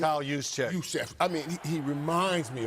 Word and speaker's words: Juszczyk: How do you pronounce his last name? Kyle Juszczyk.